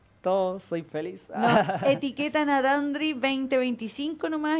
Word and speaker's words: Dandree: vide clip en tu canal de YouTube de dandri se escribe dandre con 12 dos e dandre y